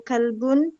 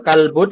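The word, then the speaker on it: كَلْبٌ: Istianah ya wujud ah kalbun la Hun ah kalbun Apakah ini anjing laun tidak ini kucing ttas jadi cara bacanya seperti yang kita baca tadi ya kalbun kalbun bukan kalbu Kun kitun pakai tanwin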